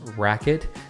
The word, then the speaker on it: RQT: paddle is literally called the rqt which is pronounced racket this paddle got its name rightfully so with